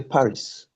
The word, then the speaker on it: Paris: You can see that P, A, R, I, S, but the S is not hard, is silent. So we say Paris.